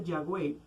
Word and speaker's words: Yahweh: Como el tetragramatón hebreo se pronuncia Yahweh, de allí que para